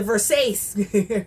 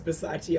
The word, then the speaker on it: Versace: and the and the Versace. I know I'm saying it wrong. I know it's Versace. I wanted to say Versace.